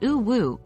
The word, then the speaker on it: UwU: world of Internet slang uwu pronounced oo Woo is an emoticon it's